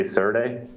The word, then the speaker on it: serde: how to say it, Serda? Yeah. So it's how we actually say the name of that. I say Serde, but I think it stands for serialize, deserialize.